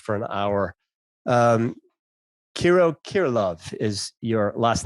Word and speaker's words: Kirilov: we get lost for an hour um kiro kirilov is your last name if i pronounce that properly did i did i get